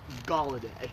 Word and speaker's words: Galladay: So the name is pronounced Galladay. That's how you say the name.